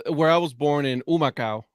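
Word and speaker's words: Humacao: I was born in umakau right yeah um is a Taino name it's actually pronounced humakau but okay all right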